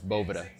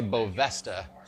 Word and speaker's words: Boveda: were Voevoda you know we've probably get more mispronunciations than the actual correct pronunciation but it's boba de boville we've actually had someone say beau Vesta and I don't know where you get the s from but people call it